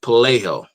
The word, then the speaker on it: Pelayo: In Spanish, it's pronounced Pelayo in Spanish.